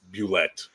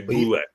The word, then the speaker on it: Bulette: which sadly, even though he made up the word, it is spelled like a French word, so Bulle. But we were corrected I was corrected point blanketly by its creator that it's Bulette.